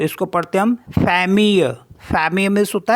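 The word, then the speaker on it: famille: आई एल एल ई तो इसको पढ़ते हम फैम फैम मीस होता है फैमिली नेक्स्ट है जी ई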